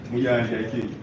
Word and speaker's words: Muyanja: Am I pronouncing the name? My Lord, I'm married. Simon Muyanga Utaya. Muyanja, he has corrected me, my Lord.